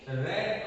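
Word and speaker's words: read: एक चित्र बनाया सी रेड अ स्टोरी यहां पे स्पेलिंग रीड लिखा है पर ये भूतकाल का रूप है राइट तो इसलिए उसको रीड नहीं बोलेंगे रेड अ स्टोरी क्योंकि ये जो लड़की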